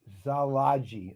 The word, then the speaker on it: Szilagyi: Now, that said, I think the pronunciation, because there's some silence in here, is Szilagyi or it's Szilagyi. Like that. So in other words, the S isn't really pronounced. I'm not seeing any proof of that being correct. And then the Y isn't really heavily pronounced.